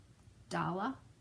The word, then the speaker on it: Dale: and I know that in Norway it's pronounced dala dala anyway I just a